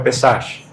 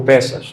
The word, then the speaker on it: Pesach: No português, a palavra Páscoa se aproxima um pouco mais da pronúncia do hebraico, que é o Pesach, ou Pessas.